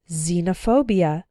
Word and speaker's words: xenophobia: ex-girlfriend ex-husband or ex-wife when X starts a word then it's pronounced like Z there are very few of these words in English but a couple of them are xenophobia xylophone and Xerox xenophobia